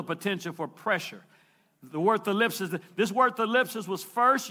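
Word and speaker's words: thlipsis: Now, the word tribulation comes from a Greek word, thalipsis. It's spelled T-H-L-I-P-S-I-S, thalipsis.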